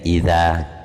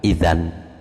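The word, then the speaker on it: إذًا: lafaz idza itu jadi ya bacanya ya idza bukan idan jadi idza itu dijadikan alif nunnya dimatikan wafil ismil mufrodil muannasi bidai lan ing dalam isim mufrad muannas dengan Tak yuk hal den waqofaken.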